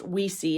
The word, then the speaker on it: OuiSi: of photo cards is yes yes in French and Spanish pronounced we see in English it's a nod to